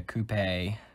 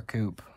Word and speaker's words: coupe: Now this is quite obviously a coupe, or a coupe, whatever you want to call it. I mean, pretty sure both ways of pronunciation is correct.